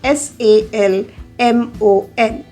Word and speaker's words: salmon: But do we pronounce the L in that? Here again, L should be kept silent. It's salmon, salmon, not salmon. Salmon is the wrong word. It should be pronounced as salmon, salmon.